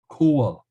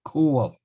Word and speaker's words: Coyle: It's would be now pronounced coal. The GH, the G have been softened and disappeared. You end up with coal, and that provides you with the surname Coyle in English.